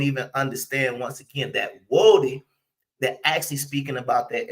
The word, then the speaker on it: Woden: His name was Woden. Now, a lot of people would say his name was Odin, but it actually wasn't Odin. It was actually Woden.